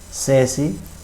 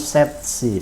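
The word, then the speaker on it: 세시: Sedangkan untuk jam 3 itu sesi. Harusnya kan set sih, set itu kan 3 sih itu jam. Jadi, tapi orang Korea itu T-nya itu tidak disebutkan, jadi mereka menyebutkan C-nya aja, sesi.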